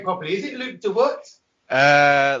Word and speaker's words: Luke de Weert: name properly is it luke dewort uh like how we say it in the netherlands we say luke de vert but like how you